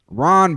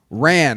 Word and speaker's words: Rand: Ron Barnaclough. Rand. I'm sorry, I be saying his name wrong. Rand Barnaclough. Ron? Rand. His name is Rand.